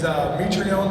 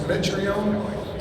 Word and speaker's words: Mitrione: A common mispronunciation for my last name is Mitrione versus Mitrione.